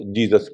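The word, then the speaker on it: Jesus: में लिखा हुआ है जेई एस यू एस तब उसको ूस नहीं पढ़ने लगे उसको जीसस पढ़ने लगे और लेकिन यह हिंदुस्तान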